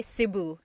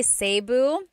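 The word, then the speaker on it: Cebu: it sayu or SIU so technically in the talog alphabet the letter e can be pronounced e or E like the letter I so I say SIU SIU and I know some people say seu but usually it's either SIU or sebu good question all right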